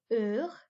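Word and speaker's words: heures: silent then we've got er and the s is silent on the end this word is uh okay if you don't like a food you might say er think about it that way okay so er means ours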